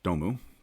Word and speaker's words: Dome: will already be recorded the spelled dome but pronounced domu company the name being